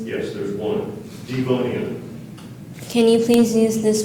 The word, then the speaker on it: Devonian: Are there any alternate pronunciations? Yes, there's one. Devonian.